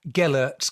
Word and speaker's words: Gellert: going to have to correct me on the pronunciation, Gellert's grave in Carnarvon, which is one of those